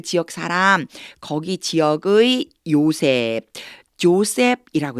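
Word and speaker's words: Joseph: 사람 거기 지역의 요셉 조셉이라고 읽어 줘야 돼요 우리는 요셉이라고 하죠 제의 발음이 나기 때문에 영어로는 조셉이라고 읽으시면 돼 아리마 사람 요셉을 이렇게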